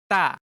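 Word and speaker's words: 따: This is read as da. One more time. Da, da, da. Or ta. One more time. Ta, ta, ta. But it's more likely read as ta. To pronounce it correctly, let your tongue touch the back of your upper teeth as you speak. Ta.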